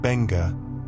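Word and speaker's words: Beqa: Bea Lagoon, pronounced Benga off the southern coast of Vitil Leu is world famous for one specific experience.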